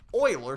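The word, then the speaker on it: Euler: e because you might think Oiler starts with an o no no no no no no see this is a french guy which means we spell it that way I didn't make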